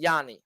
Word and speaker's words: Jhony: Got to say Jhony. You got to pronounce the O with the O.